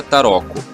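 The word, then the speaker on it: tarocco: ficando da seguinte maneira na itália e se escreve assim se pronuncia taroco nos países germânicos se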